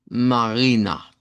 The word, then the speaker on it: Marina: Eh, las palabras que aquí tenemos, la primera hasta acá es marina. Marina. Eh, que se nos sonaría como eh es una A del español, eregular y larga y es va al final.